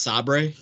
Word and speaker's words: Sabre: It's pronounced Sabre, Tim.